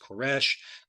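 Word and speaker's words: כורש: a Strong's Concordance the word here cores or pronounced koresh typically is translated as Cyrus throughout the Bible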